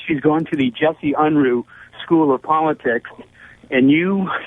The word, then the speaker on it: Unruh: It's Unruh. Willie Brown always pronounced his name Unruh.